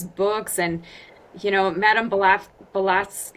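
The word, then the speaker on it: Blavatsky: all of these books and you know Madame Bolaf Bolas, how do you say her name? Blavatzki.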